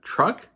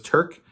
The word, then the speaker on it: Truk: book the author is mike uh truck i used to think it was turk um but no it's truck t-r-u-k hopefully um